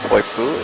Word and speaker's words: Poipu: Now the correct pronunciation of Poipu is Poipu.